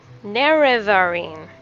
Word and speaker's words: Nerevarine: Nerevarine.